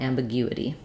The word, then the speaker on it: ambiguity: gives you a challenge try just starting with o then add your Y sound u u and then finally add your G sound u u guity um ambiguity and then once of course you can say ambiguity by itself try practicing it